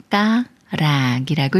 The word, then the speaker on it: 발가락: 기억을 만났으니까 초선 기역이 쌍기역 소리인 그가 되면서 발가락이라고 읽어요 발가락이 말은 철도인 철로 만들어진 길이에요 그러니까